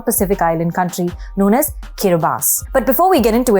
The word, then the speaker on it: Kiribati: native tongue of Gilbertese, the TI is pronounced S, which is why we say Kiribati and not Kiribati.